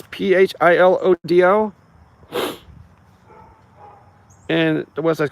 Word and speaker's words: Philodo: That's how I pronounce it. It's Philodo.